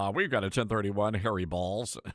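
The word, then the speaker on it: Baals: Do we know if they actually did decide to name because it's a B-A-A-L-S is the actual spelling, but the pronunciation is in fact balls.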